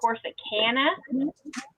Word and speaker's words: Corsicana: There's actually the two nearest towns are Corsicana is how he pronounces it, that's how it's and said. it's supposed to be, but I pronounce it Corsicana.